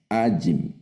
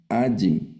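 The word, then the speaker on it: ־ַיִם: Aquí está únicamente el sufijo y es una palabra eh milel, que es las palabras que se acentúan en la penúltima sílaba. Cuando reconozcamos el sufijo del dual, entonces debemos acentuarlo. La lectura va acentuada en la penúltima sílaba. Es decir, ese sufijo va a sonar ajim.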